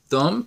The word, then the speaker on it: thumb: it once more again Tom without pronounce the be at the end you can say thump index finger middle finger